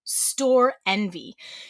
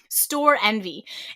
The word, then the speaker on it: Storenvy: Next up, we have the marketplace site called Store Envy. So it's spelled Store, STORENVY. So they've smushed the two words together and took out one of the E's. Store Envy.